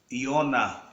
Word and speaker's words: Yonah: Deus a palavra Jonas do hebraico yonah porque não hebraico não se pronuncia a letra J né uma vez que aparece a palavra J é substituído por um Y então Jonas e Ona